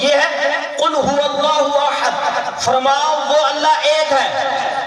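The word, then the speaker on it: أحد: ہے قل هو اللہ احد، فرماؤ وہ اللہ ایک ہے. اگر کوئی اس طرح پڑھتا ہے قل هو اللہ احد، اس کا معنی ہے کھاؤ اللہ ذلت والا ہے.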